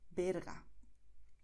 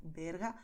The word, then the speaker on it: Berga: Pero lo importante es que pronunciarás B aquí, Venezuela. O también Valencia. Barcelona, Berga.